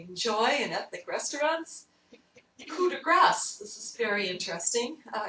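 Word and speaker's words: grâce: and say C because we sort of think that the last consonant isn't pronounced in a French word but in fact in this particular word the French pronunciation is grass it would be pronounced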